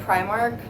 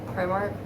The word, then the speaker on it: Primark: I got it at Primark, which I think that's how the Brits pronounce it, Primark.